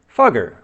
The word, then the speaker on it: Fugger: richest Americans our next guy is European Jacob fugger C I didn't swear his last name is spelled f u g g r fugger okay he was a German Banker the richest